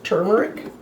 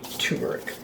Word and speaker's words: turmeric: teaspoon of turmeric well I know I pronounced that wrong it's turmeric but I do always say turmeric I need that one R out for some reason and a half teaspoon